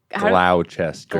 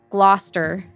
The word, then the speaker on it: Gloucester: If you do not have an accent from Mass, it would be pronounced Gloucester.